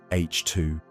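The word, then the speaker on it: H II: gas, creating glowing regions called H2 regions, pronounced H2.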